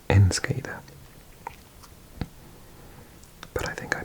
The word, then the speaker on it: Enschede: I think it's pronounced Enschede. But I think I pronounced it differently. I'm going to try it again. Enschede, Enschede, Enschede.